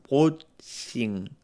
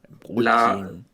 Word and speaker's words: Brötchen: Es como ajá, más brotchen, brotchen. ujú. Brötchen.